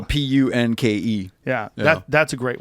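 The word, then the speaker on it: Punke: no i think it's i think he doesn't pronounce the e i don't think it's like a punky i think it's punk yeah damn sorry michael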